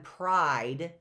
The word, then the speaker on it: pride: The next row, long I on pride. 2 vowels go walking. The first one does the talking. The E is silent, right?